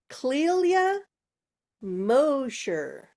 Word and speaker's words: Clelia Mosher: Okay, now I have to look at the phonetical pronunciation because it's a doozy to pronounce. Clelia Mosher.